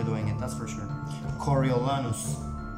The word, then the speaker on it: Coriolanus: it that's for sure coriolanus coriolanus coriolanus please correct me if i'm wrong i mean please give